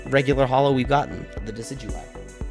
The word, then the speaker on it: Decidueye: i i saw the decky dewey it's hollow it's the second regular hollow we've gotten the decidueye i know how to say it real i just like decky dewey's kind of funny and ray says that